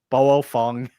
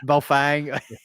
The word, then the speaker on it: Baofeng: Whenever he's pronouncing Baofeng, Boofeng, whatever, you know, it's Fang. Baofeng.